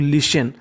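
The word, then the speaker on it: listen: ING इंग, LISTN को पढ़ते हम लोग लिशन, देखिए यहाँ पे T हमारा साइलेंट रहता है।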